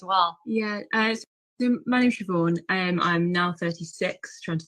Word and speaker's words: Siobhan: And how do I say your first name? It's Siobhan. Siobhan. Siobhan, yes.